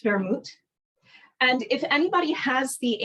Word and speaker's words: vermouth: It's spelled W-E-R-M-U-T, but it's pronounced vermouth.